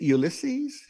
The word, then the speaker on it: Ulysses: sure um now i'm is it ulysses am i pronouncing it right yes actually uh very very well thank you um so